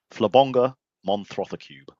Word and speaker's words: Flabonga Monthrothacube: Oh, how do you pronounce the name of the show? Flabonga Monthrothacube.